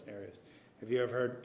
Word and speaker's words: Arias: Arias. Arias. Have you ever heard it pronounced any other way other than Arias?